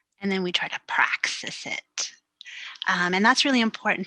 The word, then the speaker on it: praxis: Is it praxis?